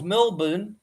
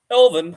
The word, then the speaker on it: Melbourne: from Melbourne Melbourne Australia love how Americans say born you know like the Bourn identity you know Jason Bourn so of course Melbourne we call it Melbourne Melbourne Melbourne mour Melbourne but of course